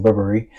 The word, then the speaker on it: Burberry: if I go into Burberry or Burberry cuz that's the way you pronounce it. Burberry in regular clothes versus